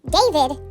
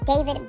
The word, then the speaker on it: D4VD: So, we are going to get right into this news that dropped about the singer David, it's spelled D 4 V D, who has been going viral for some time now for I think the past year, almost.